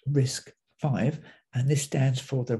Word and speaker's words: RISC-V: RISC-V is pronounced RISC-V, and this stands for the RISC Reduced Instruction Set Computer.